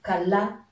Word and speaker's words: kala: Ici c'est kala. L'accent tonique se porte sur ce A qui veut dire refuser.